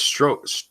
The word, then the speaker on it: Strzok: It's stroke. God damn it. I used to know how to say it. It's stroke? Okay, Peter it's stroke.